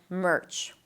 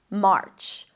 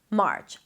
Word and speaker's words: March: Make sure you don't bring the tongue up for the R too quickly, because then it's going to sound like merch, which is a different word. March, March.